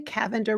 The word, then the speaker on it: Cavender: quoted her Rebecca Cavender it's spelled like lavender with a c Cavender Rebecca Cavender tocom um